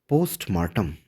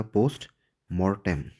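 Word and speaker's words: postmortem: Next word की अगर बात कर दी जाए तो नेक्स्ट वर्ड है पोस्टमार्टम। स्पेलिंग पर भी ध्यान दीजिएगा। पोस्ट मोटम। ठीक है? इसको आप पढ़ते हैं पोस्ट मार्टम।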